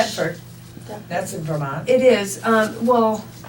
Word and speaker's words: Thetford: it pronounced Thetford or Tetford? Thetford.